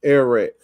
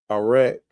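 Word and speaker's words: ערך: And now this word value is coming from, they pronounce it an erek. And this is the Hebrew characters right here. So we got the ayin, the resh, and the kaf, arek, and it means value, worth, or valuation.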